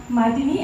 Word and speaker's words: Mathinee: Mini as a cocktail mashini.